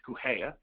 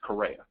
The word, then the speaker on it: Correa: So if you speak Portuguese, it's Correa. If you don't speak Portuguese, it's Correa, right? There's a slight difference there, spelled the same.